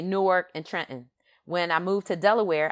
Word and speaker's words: Trenton: grew up in in trenton new jersey uh in in philly we say trenton right we leave the tea out and it's trent so she grew up